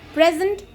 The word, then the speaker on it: present: Here it is noun. So in noun we are going to stress the first syllable. The principal will present awards to the winners. Here the second syllable will be stressed because here present is being used as a verb.